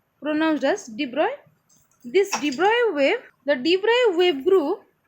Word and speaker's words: de Broglie: This you may pronounce it as de Broglie, but this is actually pronounced as de Broglie.